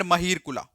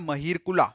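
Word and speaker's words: मिहिरकुल: एक चीज बताता हूं ये जो ए लिखा होता है ना लास्ट में अगर हम इसे प्रोनाउंस करें तो आता है ये बनता है महीर कुला ठीक है बट इसका एक्चुअल में जो है वो महीर कुल होता है अच्छा ये जो ए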